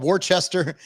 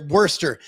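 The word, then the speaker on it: Worcester: __ ] it's called Worchester Worster I think you pronounce it Worster in in Massachusetts where uh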